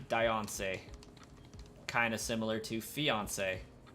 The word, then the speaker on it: Diancie: It sounds better with I. That's a better way of saying it. And I agree. Diancie.